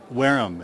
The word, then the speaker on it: Wareham: Wareham, as in if the shoes fit.